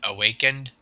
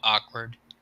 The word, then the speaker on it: Awakened: pronouncing the name wrong it's awakened not awkward oh